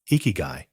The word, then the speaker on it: ikigai: where the Japanese concept of iigi comes in iigi pronounced iigi translates to reason for being or Reason